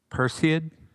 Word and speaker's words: Perseid: p per said how do you say it perseid yeah why did they have to make it such a tough name perseid it's all greek to me sir okay so